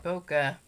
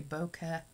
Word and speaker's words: bokeh: some guy was like you don't say bokeh you say bokeh bokeh like e k it's like b-o-k-e but